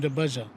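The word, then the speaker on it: Dabaja: Last name the Baja. Could you spell that, please?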